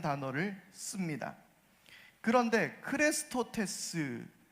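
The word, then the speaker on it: χρηστότης: 헬라어는 크레스토테스라는 단어를 씁니다. 그런데 크레스토테스라는 이 헬라어가 어떤 말과 비슷하게 들립니까? 바로 그리스도를 뜻하는 헬라어 크리스토스와 비슷하게 들립니다.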